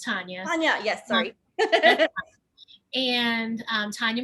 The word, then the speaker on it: Tanya: first of all my name is tanya it's pronounced tanya yes sorry and um tanya i